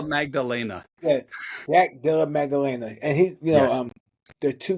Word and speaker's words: Maddalena: Jack Jack Magdalena. I could be Jack saying that wrong. Jack Della Della JDM. Magdalena. Yeah, Jack Della Maddalena.